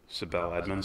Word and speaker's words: Sibel Edmonds: Sibel Edmonds.